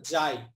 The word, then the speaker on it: xi: হচ্ছে জাই এক্স আই এটার উচ্চারণ হচ্ছে জাই স্যার এর আগে না গোজাই বলেছিলেন নাকি এরকম ওটাকে বেসিক্যালি জাই বলা হয় আর কি